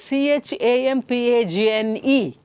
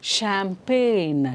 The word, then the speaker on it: champagne: do you pronounce this the spelling is c-h-a-m-p-a-g-n-e okay now this is pronounced as champagne champagne champagne is a beverage